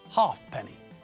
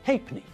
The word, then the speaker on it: halfpenny: that everyone has forgotten people thought it was easier to drop those two letters and pronounce the word as if they weren't there even if you see